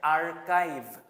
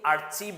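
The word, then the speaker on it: archive: করে থাকি এটা হচ্ছে এটার উচ্চারণটা হচ্ছে আরকাইভ এ আর সি এইচ আইভি আরকাইভ আমরা এটাকে অনেকেই আরচিভ বলে ভুল করে থাকি তারপরে যে ওয়ার্ডটা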